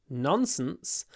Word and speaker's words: nonsense: if Russian nonsense uh you don't have long consonants in Russian but we we really like long consonants she's talking nonsense nonsense